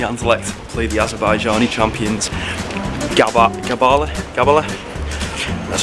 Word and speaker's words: Gabala: On our way to Constant van der Stok Stadium to go watch the mighty Anderlecht play the Azerbaijani champions Gabala. That's how you pronounce it.